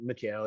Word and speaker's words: Mikal: Nah, that's an extra syllable. Mikal. It's just Mikal.